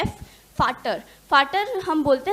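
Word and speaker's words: Vater: और इसी तरह फादर से जो प्रोनाउंसिएशन मैच हो रहा है एफ, फाटर, फाटर हम बोलते हैं जर्मन लैंग्वेज में अपने पिताजी को।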